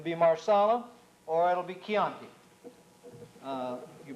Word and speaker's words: Chianti: moved it will be marsala or it'll be kyonki you pronounce the CH at the beginning of a